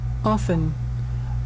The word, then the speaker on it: often: here the next one often often this is American often yes and often as well this is a very British accent and often in here often it means many times and you can find that T is silent in here and